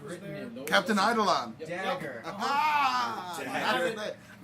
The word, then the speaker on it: Eidolon: It's spelled. It sounds like Eidolon, so it looks like an I.